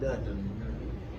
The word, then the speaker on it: doesn't: We're not saying doesn't. Doesn't. It's doesn't. That's 3 syllables. We don't need 3 syllables. Doesn't. It's just kind of one. You just kind of stop. You don't have to say it. Just kind of stop it.